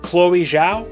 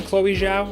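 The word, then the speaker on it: Chloé Zhao: bit of critical acclaim chloe zhao i think it's chloe zhao is how you say it she directed besides this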